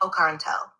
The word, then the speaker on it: Ocarentel: I said the word right, Ocarentel. Confirmed. Pronunciation locked and honored.